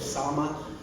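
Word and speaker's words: සාම: It actually looks like the word Sama. That's how it's spelled, but it's actually pronounced Sam.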